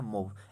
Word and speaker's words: MOV: मूव भी याद रख सकते हैं दोस्तों इसे, लेकिन इसका सही जो प्रोनाउंसिएशन होता है मूव, MOV, इसको याद रखिएगा।